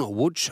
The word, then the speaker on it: Łódź: Och vi ska alldeles strax lämna till kommentarer från Łódź som det uttalas nere i Polen då, 120 km sydväst om huvudstaden Warszawa.